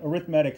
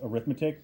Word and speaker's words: arithmetic: uh please so anyway arithmatic sequence I know it says arithmetic but for whatever reason we pronounce it with medic in this context yeah yeah it makes